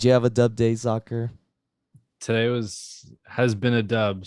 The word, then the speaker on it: Zockr: Zakir balls.